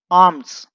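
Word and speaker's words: alms: तो यहां पर लिखेंगे गॉट बहुत सारी, प्लेंटी ऑफ आर्म्स। यहां पर एल साइलेंट है, इसे नहीं पढ़ते हैं।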